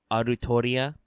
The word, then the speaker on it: Artoria: to point out that the phonetic pronunciation in japanese is very clearly romanized as arutoria for anybody listening at home seriously listen to any japanese person say the name now despite some spin-off